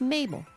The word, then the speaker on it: Mabel: My name is Mabel. It rhymes with table. It also rhymes with fable.